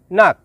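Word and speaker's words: nak: শব্দটি লেখার ক্ষেত্রে লিখতে হয় নাক, তবে এর সঠিক উচ্চারণ হবে না।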